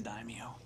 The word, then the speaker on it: daimyo: ] sorry so anyhow you always say daimyo i always we always laugh ha ha padula doesn't know how to pronounce demio right guess what you're right what it is daimyo who said well how